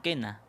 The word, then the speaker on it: quena: Lo mismo pasa con quena, porque para escribir que con la letra Q necesitamos poner la U en medio, pero no la pronunciamos.